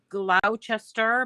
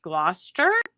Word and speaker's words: Gloucester: And then we've got Gloucester, but it's really pronounced Gloucester.